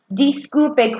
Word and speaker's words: disculpe: Disculpe. Quietly in your house, say disculpe. Notice my I is making the E sound, and my U is making the U sound.